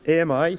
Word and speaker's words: AMI: So we call this AMI. We actually pronounce it ami, which means friend in French.